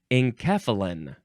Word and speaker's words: enkephalin: Enkephalin.